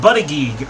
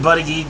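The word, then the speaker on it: Buttigieg: climate deals as well I'm saying buddy geek partly because you know I heard it said that way and the way it's spelled it kind of makes sense so I'm just I'm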